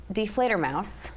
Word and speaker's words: Die Fledermaus: thank you for having us so this production deflator Mouse I I said it right absolutely okay wonderful